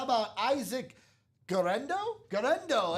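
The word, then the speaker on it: Guerendo: Garendo. That's how you say it. Garendo here in the break room. I almost said Guerrero and I'm like that is totally wrong.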